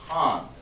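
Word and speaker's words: הן: Not han, because the vowels are pronounced ah, and the other one is I. So han. For the female, it's going to be pronounced han.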